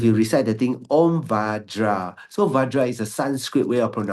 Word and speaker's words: Vajra: Either is also okay because I did receive from my teacher Om Benze. So if you recite the thing Om Vajra, so Vajra is a Sanskrit way of pronouncing the thing.